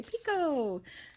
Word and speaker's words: picot: fun to say picot it's actually spelled PE k ot it's a silent T unless maybe you're from somewhere else then you pronounce that T I don't know but here we don't pronounce it so now we're going